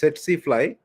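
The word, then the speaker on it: tsetse fly: So tac tac it is pronounced as setsifly they develop and multiply in the midgut.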